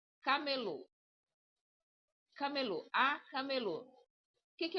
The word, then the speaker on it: camelô: Não, você vai colocar força no low, tá vendo aqui, ó? Low. Não, não, não. Por que não? Porque você tá colocando assim, ó. C. Não tenho, eu não tenho acento no aí não vai ser c, ele vai ser um um k normal. Ele vai ser assim, ó. Camelô.